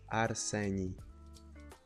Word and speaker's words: Arseni: Yes, my name is Arseni. Thanks for just to make sure I spell it correctly.